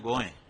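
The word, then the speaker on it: गोंय: वह कोकणी भाषा में गोए अभी भी एयरपोर्ट पर हम जाते हैं वहां लिखा है गोए। गोवा नहीं लिखा है। वह गोवा तो अंग्रेजों का उच्चारण है।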